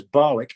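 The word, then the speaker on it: Barnoldswick: to another one that bar knows which locally pronounced as barwick and there were more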